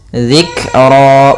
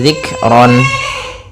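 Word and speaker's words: ذكرا: Kemudian lafaz ro yaitu fathain bertemu dengan alif itu kita namakan dengan ketika di akhir bacaan dinamakan dengan mad iwad. Panjangnya adalah dua harakat. Zikro bukan lagi zikron.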